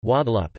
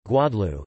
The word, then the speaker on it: Guadeloupe: Guadeloupe, French pronunciation, Guadeloupe, Antillean Creole, Guadeloupe, is an insular region of France located in the Leeward Islands, part of the Lesser Antilles in the Caribbean.